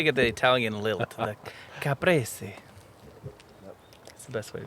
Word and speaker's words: caprese: caprese. Caprese. I like that. That's a good He word. says Kind it of the rolls best. off the tongue. You got to get the Italian lilt. The caprese.